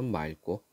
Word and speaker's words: 맑고: 휴일은 오늘은 맑고 자 리을 기억 받침 뒤에 기억이 오면은 리을로 발음합니다 그래서 맑고 휴일인 오늘 맑고 파란